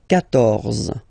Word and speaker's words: quatorze: Well, basically you've got to put this U vowel, because that's the rule in French, even if you don't pronounce it, okay? So you will get the sound K here.